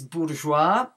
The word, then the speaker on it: bourgeois: Also, any words of French origin, such as bourgeois, which ends in an S, or apropos, which also ends in an S, none of these words should have the S pronounced.